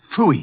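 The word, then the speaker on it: Pfui: It can be spelled in several ways. I spell it P-F-U-I. Fooey.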